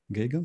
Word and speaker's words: Geoghegan: interesting guest today Peter gagan the first question am I right with pronunciation gagan yes you are yes you are cool